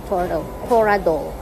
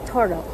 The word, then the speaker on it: Toradol: Pronounced Toradol. It's Toradol.